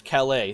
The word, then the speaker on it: Calais: by some enthusiastic admirers calais c-a-l-a-i-s you can google some of these things i mean just right there french city kelly you get it trust me calais will come up if you spell it c-a-l-e-y but i'm happy to